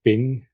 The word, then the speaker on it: PNG: example of this is PNG or ping as you should probably pronounce it um or Tiff